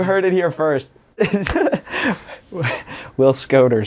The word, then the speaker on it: Schoder: I'm pretty sure in my life, 95% of everybody says Schoder, which is intuitive. That's why they do it. That's what it looks like. That's what people are used to. But it is Schoder.